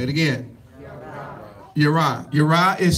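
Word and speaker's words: ירא: Y'all say that with me, Yara. Say it again. Yara. Yara is spelled Yod Resh Aleph.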